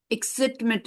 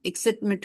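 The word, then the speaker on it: Akismet: Okay, ये इसकिट एक्सिटमिट है, एक्सिटमिट करके इसको प्रोनाउंस किया जाता है, एक्सिट मैट, एक्सिट मैट करके है।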